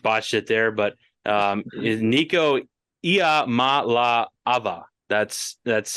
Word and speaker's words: Iamaleava: I probably just botched it there, but Nico Iamaleava. That's how you pronounce his last name, because we all avoided it.